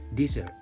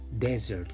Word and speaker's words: dessert: ini seperti ini tulisannya tapi katanya atau pengucapannya itu dessert ya bukan desert untuk deret itu adalah untuk gurun pasir Nah jadi makanan penutup